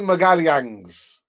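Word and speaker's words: Magalhães: mr miguel yangs yeah that's how you say his name again gabrielle magaliangs but yeah nice one nice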